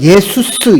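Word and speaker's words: Ἰησοῦς: 그래서 이 예수라는 말씀, 예수를 지저스라고 표현하는데 사실은 이게 영어로 지저스라고 표현되는데 원래 헬라식 발음은 예수스입니다. 그리고 히브리어로는 예수입니다. 그런데 우리가 영어로 그냥 이 J로 표시하는데 헬라어로 얘기하면 예수스 이렇게 표현이 돼요.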